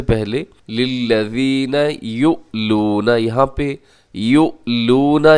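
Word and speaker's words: يؤلون: یؤلون، یہاں پہ یؤلون، یہاں حمزہ ہے، حمزہ کو جھٹکے سے پڑھا جاتا ہے۔ یؤلون، اگر ہم اس کے ہجے کریں گے تو ہم ایسے ہجے کریں گے، یا پیش حمزہ یو، لام پیش واو لو، آگے جو واو مدہ ہے، یؤلو، نون زبر نا، یؤلون، اور آگے من نسائہم،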